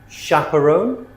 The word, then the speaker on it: chaperone: So they're spelled ch, but we pronounce them sh. Okay? Chef, chalet, machine, brochure, parachute, chaperone, chandelier, crochet, quiche.